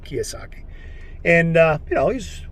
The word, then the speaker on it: Kiyosaki: can say his name kiwasaki i don't think it's kawasaki kiyosaki and uh you know